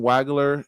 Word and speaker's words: Wagler: Yeah, with Keaton Wagler was.